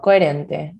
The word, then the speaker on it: coherente: There you go, coherente. En una manera coherente. Remember that the H is silent, okay?